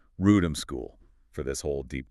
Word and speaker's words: Wrotham: It's spelled W-R-O-T-H-A-M. But it's pronounced Wrotham. We've been told to be really clear on that. So we'll be saying Wrotham School for this whole deep dive.